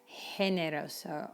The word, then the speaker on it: generoso: In fact, when it's followed by the letter E, it's an H sound, like generoso or gigante.